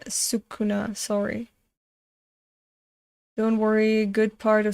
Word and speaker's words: Sukuna: the is it pronounced skuna and not sakuna yeah sukuna sorry worry good part